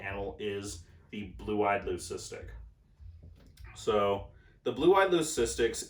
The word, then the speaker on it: leucistic: together they will make a solid white leucistic or Loo-kiss-tick I guess is actually the technical way to pronounce it aloe cystic animal with